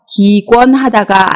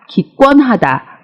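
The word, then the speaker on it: 기권하다: 행사하지 않는 것을 의미합니다 발음의 주의하셔야 하는데요 2권 하다가 아니라 기권 하다 라고 발음합니다 다음은 헌 출하 다입니다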